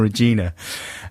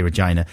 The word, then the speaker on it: Regina: Is it Regina? Yeah, or Regina. I like to say Regina.